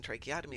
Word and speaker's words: tracheotomy: There is a place called loss space but in English tra as in tracheotomy is pronounced with a K in lie of the ch.